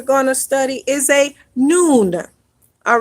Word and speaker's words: Nun: The next final letter that we're going to study is a Nun.